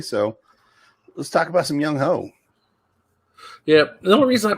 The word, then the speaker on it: Younghoe: And that's how you pronounce it. It's Younghoe. Younghoe Koo. It's not Younghoe. It looks like Younghoe. And I like Younghoe better. It does. I mean, yeah, but that's not how it's pronounced.